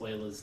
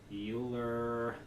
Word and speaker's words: Euler: you teach this course you get people who mispronounce euler's name and they pronounce it euler and so i very strongly encourage you not to do the teacher in uh ferris bueller's day off euler euler euler or i'm just going to laugh at you